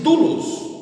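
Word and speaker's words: δοῦλος: E pronuncia-se doulos, é servo em grego, e é traduzido, essa palavra é traduzida do grego para o português como escravo, como servo.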